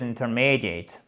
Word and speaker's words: intermediate: I've tasted my English a few times and my level is intermediate. Intermediate. Ici, avec un I long accent tonique, il est là.